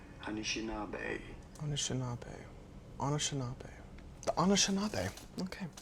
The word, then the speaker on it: Anishinaabe: the United States, but how do you go about pronouncing it? Anishinaabe. You do want to stress on the fourth syllable, on the na syllable. Anishinaabe.